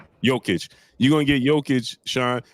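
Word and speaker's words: Jokić: dude the Denver Nuggets center I can never pronounce his name nurkic you gonna get him uh I think that's his name nerkish versus Joel ID that's his name right Sean it's yic joic you're gonna get yic Sean versus embiid you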